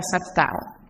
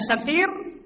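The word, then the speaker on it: سَتِير: Yang lebih parah lagi adalah Sattar. Allah tidak memiliki nama Sattar. Yang ada adalah Sin, Ta, Ya, dan Ra. Sin, Ta, Ya, dan Ra. Bagaimana Anda membacanya? Anda membacanya Satir.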